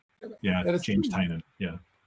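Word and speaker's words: Tynion: He named his company Tiny Onion specifically to help people pronounce his name. Like that's the whole point of the company. Is that right? Yeah. James Tinan.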